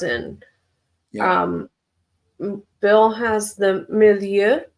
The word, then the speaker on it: Milieu: Bill has the Milieu. Milieu is a French pronunciation.